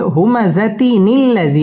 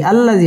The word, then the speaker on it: همزة الذي: الذي جمع مالا وعدده আমরা যদি একসাথে পড়ি তাহলে হবে হুমাযাতিনিল্লাযী আল্লাযী হবে না, হবে হুমাযাতিনিল্লাযী এইভাবে হবে।